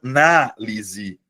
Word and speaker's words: análise: O primeiro caso, analise, é verbo, Luana. Mas aí você vai perceber, analise. A sílaba tônica é a anterior. Beleza? Eh, é a penúltima sílaba. Já no caso do substantivo, você muda a tonicidade, você muda a posição da sílaba tônica, Luana, e transforma em substantivo.